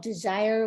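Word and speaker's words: DSIRE: a website I think it's called desire which is spelled differently d-s-i-r-e and they have qualifications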